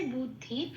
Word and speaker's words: বুদ্ধি: কিন্তু এখানে ব এর উচ্চারণ কিন্তু বাংলা ব এর মতই হবে।